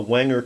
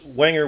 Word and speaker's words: Wenger: knives but Wanger or Wanger if you prefer the German pronunciation was one of the